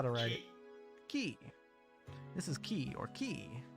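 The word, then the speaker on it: キ: Key. This is key or key. It's a consonant followed by a vowel and makes up a single syllable. Pronounce this as key, like in the word keep or key.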